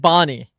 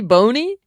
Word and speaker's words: Bony: Is it Bony or is it Bonnie? Which one is it? How does the coach call him Bony? But I've heard him be called Bonnie infinite times. Is it Bony or Bonnie? It's actually Bony.